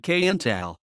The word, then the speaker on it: Qntal: one of syrah's dreams its pronunciation varies among sources however syrah herself during live performances pronounces it kayental canal has headlined its